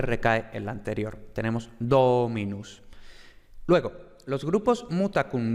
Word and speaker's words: dominus: por tanto el acento no recae en esa sílaba, sino que recae en la anterior. Tenemos dominus.